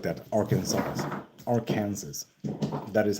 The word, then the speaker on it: Arkansas: Arkansas. That is how you pronounce that.